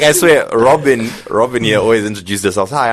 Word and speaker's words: Robin: Robin with a... The Y is silent, guys.